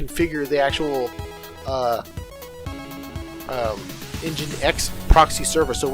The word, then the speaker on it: nginx: it, application is going to be it's called engine X, however you want to spell that, but that's how they spell it.